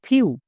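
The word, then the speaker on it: few: হয়ে যাবে mu clear এভাবে করে যদি আমরা উচ্চারণ করতে পারি তাহলে 1% ও ভুল হবে না বোঝা গেল next F ই ডব্লিউ ফিউ ডি ই ডব্লিউ ডিউ এম ই ডব্লিউ মিউ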